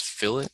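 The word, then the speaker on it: fillet: little tool up here this is Phillip it is spelled the same as the fish thing but it's not the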